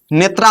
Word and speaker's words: नेत्र: लोग लिख दीजिएगा और नेत्र लिख दीजिएगा। नेत्र का स्पेलिंग भैया क्या होता है? एन ई टी आर ए नेत्रा होता है।